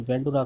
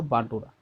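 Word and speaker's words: Bandura: जहाँ बेंडुरा दे रखा है इसे इसका राइट देखा जाए तो इसका शुद्ध उच्चारण होता है बांडुरा बोलते हैं, जैसा कि इंग्लिश में दे रखा है यहाँ पे बेंडुरा कर दिया है, कोई दिक्कत नहीं।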